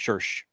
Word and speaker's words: Circe: Her name was Circe, and pronounced just like church.